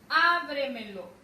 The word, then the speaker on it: ábremelo: Luego tenemos ábremelo. ¿Dónde recae su mayor fuerza de voz? A. Ábremelo. Agítamelo.